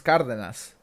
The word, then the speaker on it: Cardenas: I want to tell you how to correctly pronounce his last name. It's a very wonderful. It's a very common last name where I come from. It's Cardenas.